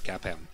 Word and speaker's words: CAPM: about CAPM is that you should pronounce it as cap em that all the insiders